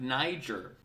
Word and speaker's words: Niger: why can't Niger which by the way it's pronounced Niger by the way just in case you were